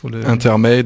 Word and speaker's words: Intermade: Intermade, on le prononce à l'anglaise.